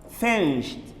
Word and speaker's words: finished: the faceless letters therefore the IDI should be pronounced as tree look at this finish finished finished not finish it Doce finish it finish